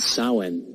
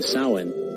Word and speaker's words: Samhain: It was called Samhain. Yeah, I know, it's spelled differently than how it's pronounced.